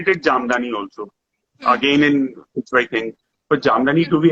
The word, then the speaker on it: Pichwai: they never knew of Pichwai. What is Pichwai? And they couldn't even, leave aside knowing Pichwai, they couldn't even, pronounce it properly. They would call it by different names, Pichwari, Pichai.